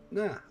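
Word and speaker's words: な: This is the na, or na character, as you pronounce this as na, like nah, bro.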